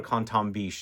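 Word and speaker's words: Quentin Bisch: Well, I'm trying to say it in French because every time I pronounce his name in Quentin to French people, they correct me and do Canton, so that's why I'm doing that.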